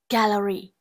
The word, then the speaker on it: gallery: D, gallery. Gallery có trọng âm rơi vào âm tiết thứ nhất.